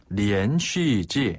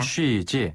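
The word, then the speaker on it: 连续剧: 중국어로 드라마는 뭐라고 합니까네 드라마를 중국어로는 리엔 슈즈라고 해요 리엔지 한번 더 리엔 리엔 쉬지 요거 이제 한자 발음 그대로 따지자 면 연속극 이거든요 연속극을 중국어로는 리엔 슈즈라고 합니다 리엔 쉬지 자 그리고요 그 우리나라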